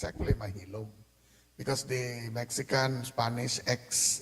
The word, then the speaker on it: Maxilom: let's start with the beginning people tend to mispronounce the name of General maxilom it's actually mahom because the Mexican Spanish ex is also congruent to the English age mahilum and Maxum would be their Nam so they're